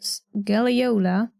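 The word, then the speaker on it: scagliola: Could also be Scaliola with a silent G for some reason.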